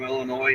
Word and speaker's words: Illinois: Only the people from Illinois know that the S is silent.